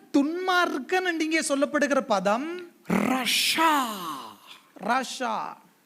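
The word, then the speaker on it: רשע: துஷ்டயா කියන වචනය துன்மார்க்கன் என்று இங்கே சொல்லப்படுகிற பதம் Rasha. Rasha. The word for wicked or ungodly is Rasha, spelt with Resh, Shin and Ain.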